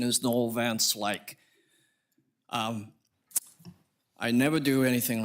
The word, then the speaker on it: Noel Van Slyke: Just real quick, correct pronunciation is Noel Van Slyke.